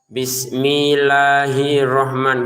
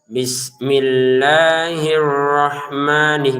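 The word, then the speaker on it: الرحمن: Hirro tekan ke rnya. Karena kalau kayak gini tidak ditekan. Nah, karena beberapa yang belajar di grup itu ya atau di privat itu ee lamnya ini sama rnya tidak ditekan sehingga terbacanya bismillahirrahman gitu kan. Harusnya tekan bismillahirrahman gitu. Arrahman jangan sampai ada pantulan. Jangan kita baca arrahman. Arrahman enggak ada e-nya ya di sini ya.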